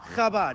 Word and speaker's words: Chabad: Chabad.